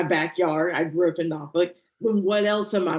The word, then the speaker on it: Norfolk: is in my backyard, I grew up in Nofuk, then what else am I missing?